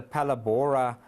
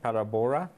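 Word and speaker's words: Phalaborwa: across there as well number seven is the Pala Bora area which is just here next to now spread para Bora and we spell that pH a our a B or W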